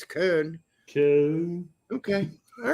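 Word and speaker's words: Köln: know nobody complains when people say Cologne when it's Kern okay okay all right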